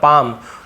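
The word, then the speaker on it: palm: याने लकीरें ऑफ हर पाम यहां पर भी पाम एल पाम नहीं पढ़ेंगे पाम याने होता है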